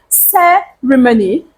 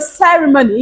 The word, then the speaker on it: ceremony: not supposed to be you're supposed to say ceremony placing your strikes on the first syllable of that word and how many Sy